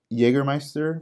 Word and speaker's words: Jägermeister: We have Tamiya 124 scale Toyota GR Supra Custom, also an Audi Quattro, Porsche 962C, Jägermeister. I hope said it right or pronounced it.